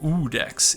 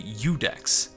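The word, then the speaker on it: Iudex: was pronouncing I think I was pronouncing it uex in the previous episode but it's actually udex so thank you uh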